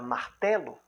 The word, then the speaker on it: martelo: Quando você vai pronunciar a palavra martelo, a energia expiratória da palavra está na sílaba té.